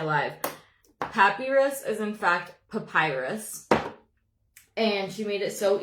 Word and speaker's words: papyrus: Someone helped me learn how to pronounce this. Who was it? Someone on my live. Papyrus is in fact Papyrus.